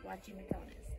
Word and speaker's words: Guachimontones: We are here at Guachimontones. Guachimontones. I'm not doing very good at pronouncing it. But as you can see, here is how you spell it. It's actually pronounced with a W, Guachimontones.